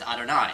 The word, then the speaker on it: Adonai: And so we just cover it up with Adonai. That's how we say, which means my Lord,